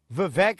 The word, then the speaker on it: Vivek: Vivek Ramaswamy, Vivek rhymes with cake.